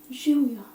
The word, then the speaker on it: živjo: Živjo.